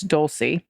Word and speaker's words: Dolce: a pic of Dolce pronounced like an S okay so it's Dolce not a k or a CH I just don't read